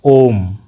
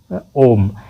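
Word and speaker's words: ओ३म्: क्योंकि ओ जो है उसका उच्चारण करने में उसको ज्यादा लंबा खींचना पड़ता है। तो इसीलिए इसमें थ्री लगाया गया। ओम ओम यह दीर्घ स्वर से भी ज्यादा खींचाता है। तीन गुना समय लेता है।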